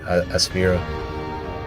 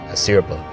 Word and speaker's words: Asirpa: his unfortunate predicament with Aspira. Sorry, I said her name wrong. Asirpa.